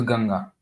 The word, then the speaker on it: Ganga: for every other River why we should have the British way of pronouncing the ganga Rivers as gangas so I I just prefer to read it as ganga so so once in